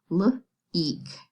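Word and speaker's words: leak: The E says its name and the A is silent. L-eek.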